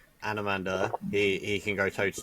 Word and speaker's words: Anomander: Anomander. Anomander, yeah. His full name's it's like Anomandaris, but Oh, humans can't possibly pronounce his name or something like that.